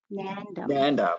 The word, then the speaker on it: Nandam: it's the same and then did i say it right nandam nandum yeah you did it perfect you did all right